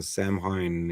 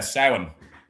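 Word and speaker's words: Samhain: I think another big one is Halloween who has his roots in Sam Hine in the Celtic tradition. No. Yeah. Sin.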